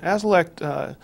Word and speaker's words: Azilect: Azilect, A-Z-I-L-L-E-C-T. Good. Azilect, good pronunciation, is a new drug that's been out